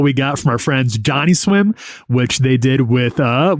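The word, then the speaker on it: Johnnyswim: You say Johnny swim. You don't say Johnny swim. I I hit the accent on the swim. You hit the Johnny real hard.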